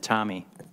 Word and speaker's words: Tomey: I want to call you Tommy because of Jim Tomey, great baseball player. So please excuse me. How do you pronounce your name? I pronounce it Tommy, but I answer to anything.